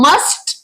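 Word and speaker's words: mustn't: गलती कर जाते हैं वो मस्ट जो है इसमें टी को साइलेंट नहीं करते जब भी हम इसके शॉर्ट फॉर्म बनाएंगे तो इसमें टी साइलेंट हो जाएगा और इसकी प्रोनंसिएशन हो जाएगी मस नाउ लेट्स लर्न हाउ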